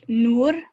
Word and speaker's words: Noor: Noor, am I saying it right, Noor? It's pronounced Noor.